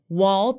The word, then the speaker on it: wall: WA 대표적으로 wall, 영국 발음 어떻게 한다? wall이라고 하고요.